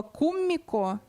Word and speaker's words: куммико: Это слово «куммико». Куммико, да, ударение на первый слог.